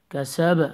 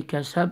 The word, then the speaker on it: كسب: كسب. Apply the echo sound in the bass as well. Don't say كسب. It has to be كسب. قلقلة.